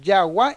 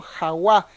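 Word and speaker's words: jagua: Él decía Yagua y no Jaguá, pero se escribe con J.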